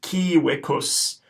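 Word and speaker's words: civicus: we know that the C is going to be hard a hard cup and we know that the V is gonna be pronounced as a W so this word is gonna be pronounced key Wikus t Wikus okay this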